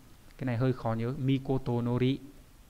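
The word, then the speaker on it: 詔: Chữ cuối cùng là chữ chiếu trong từ chiếu chỉ, cái này hơi khó nhớ, mikotonori, âm cương đọc rất là dài, mikotonori nghĩa là chiếu của nhà vua ấy.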